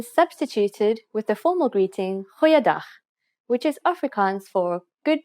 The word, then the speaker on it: Goeiedag: Try pronouncing it from the back of your throat. Goeiedag. Goeiedag.